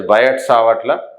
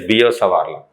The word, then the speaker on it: Biot-Savart: People call it as Biot-Savart law, but actual pronunciation is Biot-Savart law.